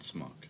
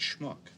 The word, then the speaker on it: schmuck: the word schmuck schmuck it's not smock it's schmuck smuck why is this